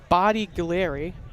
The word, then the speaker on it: Bodiglieri: I mean, I think that's the correct Italian pronunciation, but some may call him Bodiglieri. But they're wrong.